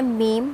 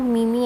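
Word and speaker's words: meme: So usually कुछ लोग इसे कहते हैं मीम, तो ये वो गोरी वाली मीम नहीं है. And this is नॉट मीमी as well, this is मीम, ठीक है. सो हाउ we pronounce this word, it's मीम, नॉट मीम, इट्स मीम.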